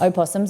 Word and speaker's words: opossum: Opossums and possums. Today I learnt, the more you know. And we don't pronounce the O, so it gets confusing.